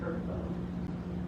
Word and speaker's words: Vrbo: I think I've looked for Cortland on, I can't remember if I did Airbnb or Vrbo, which is how they pronounce that acronym, and they're already here.